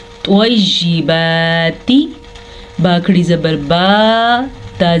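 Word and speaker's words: طَيِّبَاتِ: پیش واو، لو، کولو۔ طیباتی، توا کو پر پڑھنا ہے، توا پہ توا حروف مستعلیہ میں سے ہے، اسی لیے توا کو ہم پر یعنی کہ منہ بھر کے پڑھیں گے۔ طیباتی، با کھڑی زبر با،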